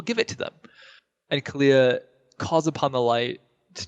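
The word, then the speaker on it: Calia: Kalia.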